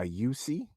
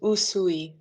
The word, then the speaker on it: Usui: A yusi. Is that a yusi? Raiki. It's uh it's pronounced usui.